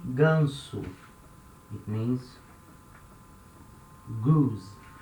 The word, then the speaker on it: ganso: vowels for example this word here we say gunsu it means gus ganso now that s is not between two vowels